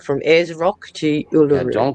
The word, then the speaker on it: Uluru: Thank Uluru.